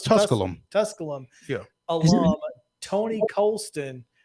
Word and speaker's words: Tusculum: Is it No, it's Tusculum.